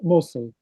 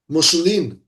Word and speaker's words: Mosul: Mosul. Musulim.